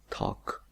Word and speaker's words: talk: si ustedes se fijan, la L no se pronuncia. Simplemente pronunciamos T-A-K, talk, talk.